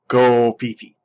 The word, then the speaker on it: Covfefe: Okay, now I called it Covfefe. The internet has decided it is Covfefe. So from here on out, we will pronounce it Covfefe.